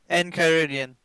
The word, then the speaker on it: enchiridion: things you got that Esther already how you pronounce it enchiridion en CH ir i in Caribbean all right